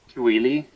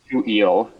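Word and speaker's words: Tooele: And, uh, according to uh, my pronunciation of Nick's town, it's Tui. Yeah, I was going to say Tel. Uh yeah. Oh no, we must butcher the pronunciation. It's too eel.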